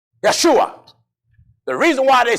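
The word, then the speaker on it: ישוע: Jesus the Hebrews say Yeshua the reason why they say Yeshua because one there is no J's in the Hebrew grammar Joshua is pronounced in Hebrew Yeshua Yeshua is the name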